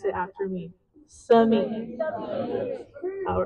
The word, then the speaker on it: Simi: You must pronounce it as Simi. So I'll put my teacher hat on and I want everybody to pronounce it after me. Simi.